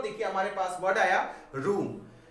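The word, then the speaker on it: rheum: Next word देखिए हमारे पास word आया रूम। इस वर्ड का प्रोनाउंसिएशन ध्यान रखिएगा, ये आपका रूम वर्ड है। आर जैसे कि होता है घरों में कमरे होते हैं, रूम बोलते हैं, उसका प्रोनाउंसिएशन क्या है, रूम है।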